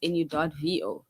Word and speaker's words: nouveau: So it's the dictionary pronunciation of the word nouveau, the French word nouveau. So it's nu.vo basically.